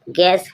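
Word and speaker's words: guess: you silent रहता है गेस गेस means अनुमान जी यू E double S गैस means अनुमान इसी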